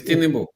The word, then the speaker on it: Tinubu: They need too hard to pronounce, man. I'm telling you. I know. The man name is Tinubu. Yeah, it's Tinubu.